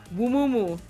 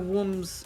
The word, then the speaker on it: Wumumu: I need to make sure I say his name right. Wumumu. Yes, I was going to call it Wooms for a second.